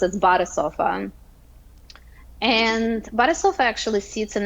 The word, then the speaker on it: BadeSofa: in the in in the United States uh pronounce it as uh incorrectly as B sofa just pathetically so we're doing a lot of Education of what that actually is um so it is pronounced as BofA and BofA actually sits in a really interesting